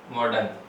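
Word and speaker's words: modern: Next आप देखेंगे जैसे वर्ड आ गया आपके पास मॉडर्न। ठीक है, तो मॉडर्न का कैसे करेंगे, मैं, ठीक है, एम है, इसका साउंड है वो आप प्रोनाउंस करेंगे तो मैं हो जाएगा। फिर आपको ओ का साउंड आपको काम में लेना है, तो ओ का साउंड जैसे ओ, ड, और यहाँ पे आर साइलेंट है क्योंकि वोवल साउंड वाला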